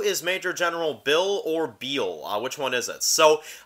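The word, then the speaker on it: Beale: You know, you have to say Major General Beal.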